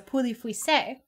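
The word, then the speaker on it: Pouilly-Fuissé: The other one I got you is a poulet fuissé, which is how you say it.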